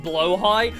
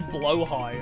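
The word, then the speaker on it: Blåhaj: Oh, it's pronounced blowh high. I could never figure it out. I've heard it so many different ways. I've seen it like pronounced so many different variants, but never really know. So, it is blowh high.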